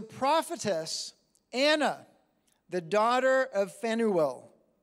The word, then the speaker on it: Phanuel: It says, there was a prophetess, Anna, the daughter of Phanuel. It's spelled with a P-H. I think probably it's pronounced Penuel. Of the tribe of Asher.